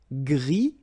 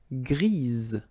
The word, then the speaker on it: gris: Gris, don't pronounce the S, but then for the feminine form, grise. Remember? Grise. Alright?